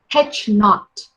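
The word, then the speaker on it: H₀: I read it as or pronounce it as H naught, null hypothesis.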